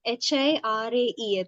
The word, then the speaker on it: Hiraeth: There's this Welsh word called hirai or hirai. I'm not sure how you pronounce it. It is Hiraeth, which means a longing